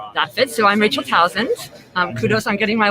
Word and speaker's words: Tausend: it so i'm rachel thousands um kudos i'm getting my last name correct rhymes with thousands the easiest way to say it my german colleagues have